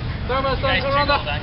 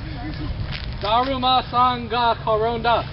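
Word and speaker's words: だるまさんがころんだ: Daruma-san, Garonda. Daruma-san, Garonda. Randy, Jordan. I didn't move! I saw that! So what? Daruma-san, Garonda. Oh, no! You lose. That was good. Daruma-san, Garonda. Daruma-san ga Koronda.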